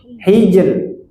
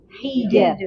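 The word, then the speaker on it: حجر: Ah, ini rnya tebal tipis. Tipis. Kenapa tipis? Sebelumnya kasrah. Sebelumnya kasrah. Ah, ini benar ya. Tipis. Kaidah asalnya demikian. Hijr. Hijr. Ah. Jangan teorinya saja yang tahu. Tipis pas bacanya hijau. Ah, bacanya tipis. Hijr. Hijr. Ah, bunyi tipis demikian.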